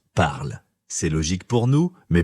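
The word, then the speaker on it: parlent: On écrit parle avec ENT à la fin, mais on ne prononce pas ces lettres. On dit juste parle.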